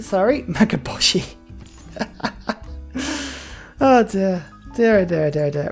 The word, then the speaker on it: Mahabodhi: is a beautiful beautiful mughaboshi temple which is definitely not how you pronounce it the mahabodhi sorry magaboshi there there daredevil right